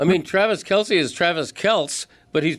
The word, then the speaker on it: Kelce: I mean, Travis Kelce is Travis Keltz, but he's pronouncing it Kelsey because everybody else does.